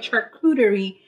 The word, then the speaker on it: charcuterie: That's how you say it, charcuterie plates.